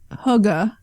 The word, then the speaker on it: hygge: but the relay this is all related to Hugga can I say it right yeah now hygge